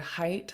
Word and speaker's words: height: For example, in the word height, like what's your height? There's a GH in the middle that you write, but you don't say it. You don't pronounce it. It's silent. It doesn't make a sound.